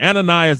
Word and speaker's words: Ananias: And let me pronounce their names correctly again. Ananias, Azarias, and Mishael.